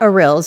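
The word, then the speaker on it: arils: oil, and of course, pomegranate seeds or arurills if you want to say it correctly.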